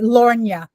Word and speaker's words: L’Ornya: Lornia. Okay, good. Miss Lorna, I'm going to switch over to my phone because my Okay.